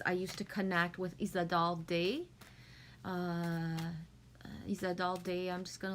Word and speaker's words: Isadore Day: And I know Isadore Day is how it's pronounced in English, but it's hard to pronounce a French name in English, so Isadore Day.